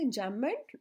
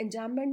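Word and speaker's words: enjambment: इसके बाद है एंजैममेंट, दैट इज़ रन ऑनलाइन। और मीनिंग क्या होता है एंजैममेंट में? बी साइलेंट है बच्चों।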